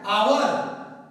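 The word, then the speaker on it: hour: बच्चों ध्यान देना है ये क्या है आवर, एज क्या है साइलेंट है आवर आवर आ, तो इसमें हम क्या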